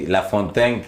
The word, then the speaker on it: La Fontaine: gracias a Dios sí Cómo se dice Entonces mi nombre es la fontaine ok La fontan sin el acento americano sí cuéntenos doctora Cómo